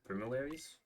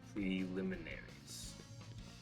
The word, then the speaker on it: preliminaries: There's no reason to do the premier premillaries. I don't think that's how you say it. Preliminaries. That's it.